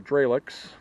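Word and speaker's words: Jrelecs: It's a transmitter mitt, the Drelex. I guess that's how you say it, J-R-E-L-E-C-S.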